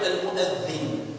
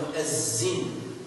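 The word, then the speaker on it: المؤذن: Généralement, vous trouverez sur le site internet des livres qu'on écrit avec mu'azzin, avec un Z. Ça, ce sont notamment les Égyptiens qui, il la prononce Zai. Or, normalement, c'est mu'adhin.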